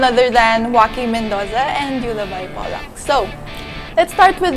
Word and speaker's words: Euluvye: So ang Euluvye came from I love you, kabaliktaran ng I love you. I love you. Wow. So it came from I love you. Pag binaliktad siya, Euluvye.